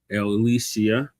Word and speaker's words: Ilyasah: Elisia.